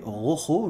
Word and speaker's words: Rojo: On va commencer par une série cette semaine, donc une série de Netflix qui s'appelle Sky Rojo, je sais jamais le prononcer correctement, faut savoir rouler les R, mais c'est pas mon cas, bref, le ciel rouge, on va dire ça.